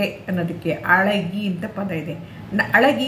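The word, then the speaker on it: அழகி: ಅಳಗಿ ಅಂತ ಹೇಳಬಾರ್ದನ್ನ ಅಳಗಿ ಅಂತ. ಝೆಡ್ ಉಚ್ಚಾರ ಸೇರುತ್ತೆ ಅಲ್ಲಿ, ಝೆಡ್ಡು ಮತ್ತು ಎಳ್ಳ ಎರಡು.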